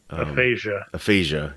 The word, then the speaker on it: aphasia: Did you guys aphasia? Yes, it's a speech and reading impairment. Yeah. And here's something I found out about this, just being a nerd and looking into everything. Sure. Aphasia is more instead of being like a dedicated